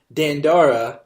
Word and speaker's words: Dandara: Japanese or is it dandera like more a typical American pronunciation I think it's a South American or a Latin American name so I think it's just dun dah dah it's neither North American